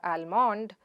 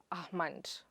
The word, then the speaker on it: almonds: Itís not almond or almund but, Ah-muhnds.